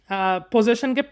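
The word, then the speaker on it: possession: বাংলাদেশের অনেক মানুষ পজিশনকে পজিশন হিসেবে উচ্চারণ করে, যে ও ওই মার্কেটে আমাদের পজিশন আছে, ওই পজিশন কিনে রাখছি। ওটা আসলে পজিশন না, ওটা আসলে পজেশন।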